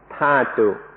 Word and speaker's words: dhatu: In English, it's usually spelled dhatu, and so I sometimes say dhatu. In Thai, it's pronounced thatu, so that's why I mix these up.